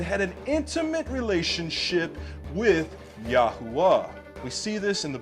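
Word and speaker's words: יהוה: wow, hey, yod, hey, wow, hey, which is pronounced Yahwa.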